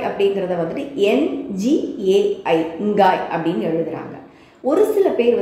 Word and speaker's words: Ngai: இப்போ சுவாஹிலி மொழியில் இந்த இங்காய் அப்படிங்கிறத வந்துட்டு NGAI இங்காய் அப்படின்னு எழுதுகிறாங்க. ஒரு சில பேர் வந்துட்டு ENGAI எங்காய் அப்படின்னு எழுதுகிறாங்க. ஆனால் உச்சரிப்பு வந்துட்டு இங்காய் அப்படிங்கிறது தான்.